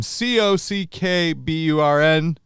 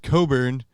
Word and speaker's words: Cockburn: know for sure that the name c-o-c-k-b-u-r-n is pronounced coburn cock-burn if it's two words and not a name cock-burn so we are going